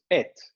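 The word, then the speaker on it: את: And this is just et, just pronounced Das as ist et.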